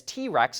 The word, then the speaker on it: TRX: to the ford raptor the trx which they pronounce as t-rex internally and it's a serious off-road machine and we recently got to drive one the conversion from light duty pickup to t-rex was significant the frame